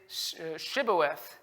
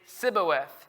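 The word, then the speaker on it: Shibboleth: no i am not they would tell him to say shibuwath if he was from ephraim he would say siboeth because the people from ephraim cannot pronounce the word correctly then they would take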